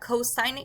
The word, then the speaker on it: cosine: So cosine is abbreviated COS. Again, you pronounce that cosine. It is just abbreviated in writing.